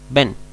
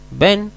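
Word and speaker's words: בן: tenemos en la palabra Ben Ben en hebreo significa hijoa su traducción se dan cuenta en comparación con la anterior la otra se acentúa más fuerte más larga su duración una es bet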